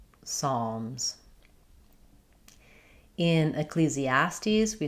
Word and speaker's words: Ecclesiastes: Let's take it syllable by syllable. Ecclesastes. Ecclesiastes.